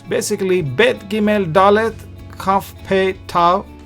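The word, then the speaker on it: ב: The bet is pronounced as b, boy sound, b sound. Whereas without the dot, it is pronounced v sound.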